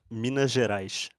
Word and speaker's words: Minas Gerais: Oh, it's Minas Gerais. Minas Gerais. And I suppose people from Guarulhos would say Minas Gerais. So it's almost like a J. So it's like Minas Gerais.